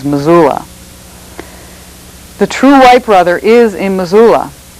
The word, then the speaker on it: Missoula: or Masula, or how we pronounce it is Missoula.